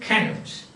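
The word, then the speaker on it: Cnut: Finally, they ended up Canute, C-N-U-T, not C-A-N-U-T, but C-N-U-T. That is the spelling, and pronounced it Canute.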